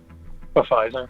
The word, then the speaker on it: Pfizer: Okay, Pfizer. That's the correct way to pronounce it. Pfizer. Yeah, the P is not silent.